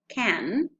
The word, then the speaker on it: can: The pronunciation is this one, can, and it occurs in emphatic affirmative when the modal verb is stressed.